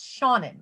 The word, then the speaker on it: Shannon: panel it's kinda great it's Shannon if you had a friend named Sean and you want to come into your house, you would say let Shawn in.